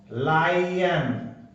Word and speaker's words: lion: ये है लोइन, ले, ओई ने, लोइन। ये वो लोइन शेर वाला नहीं, वो होता है LION, और इसका होता है, ये लोइन है। तो अब एक जो दूसरी स्पेलिंग होती है LION, इसमें देखो LOIN है, लोइन। और ये जो धोती लंगोट इसको कहते हैं, ये है जिसको शेर वाला ये है, इसका साउंड होता है लायन।